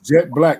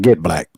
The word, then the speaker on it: Gette Blaque: here so ma'am Miss jet black man I want y'all to make sure that y'all pronounce her name correctly that's right you know what I'm saying jet black now get back not get black yeah right that's right